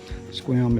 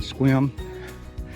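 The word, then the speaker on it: Sequim: continues on this area is just outside of swim washington squam is spelled s-e-q-u-i-m it's a native american word and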